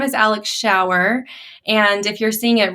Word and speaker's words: Schauer: my name is alex shower and if you're seeing it written it is pronounced shower like a rain shower um and i have